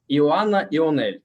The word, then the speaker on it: Ioana Ionel: And in the very beginning, I want to ask you, just to correct me, if I pronounce it in the right way, Ioana Ionel, right?